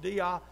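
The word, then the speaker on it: δεῖ: In English, there's just three letters, D-E-I, and it's pronounced dia.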